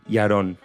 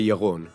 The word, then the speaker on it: Yaron: First question, how do you exactly say Yaron? How do you pronounce it? In Hebrew, you say Yaron. Yaron.